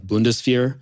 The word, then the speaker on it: Bundeswehr: It's pronounced like Bundeswehr.